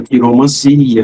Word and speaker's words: quiromancia: Tudo que termina em ancia tem a sílaba tônica si. Cartomancia, quiromancia, melancia, tá bom?